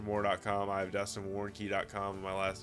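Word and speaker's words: Warncke: Moore has Chester Moore calm I have Dustin warnky calm my last name is spelled W a are in cke love you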